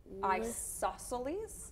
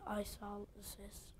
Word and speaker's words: isosceles: Isosceles? Isosceles triangle, because the I in the first letter is just like your eye in your face. And we have two eyes, so we can remember that by seeing there are two